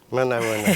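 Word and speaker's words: Manao ahoana: Éminence, alors je vais dire un bonsoir dans votre langue, j'espère que je vais bien le prononcer, Manaona. Manaona, c'est vrai.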